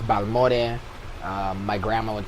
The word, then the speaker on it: Balmore: And then so Balmore, that's how you say it in English. Yeah. It's Balmore.